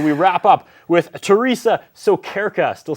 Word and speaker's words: Sokyrka: But we wrap up with Theresa Sokyrka.